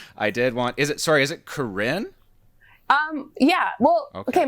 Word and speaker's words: Karine: okay, my name is French, so like it's not actually my name, but I prefer Karine because it's Okay. hard for some people to pronounce my name.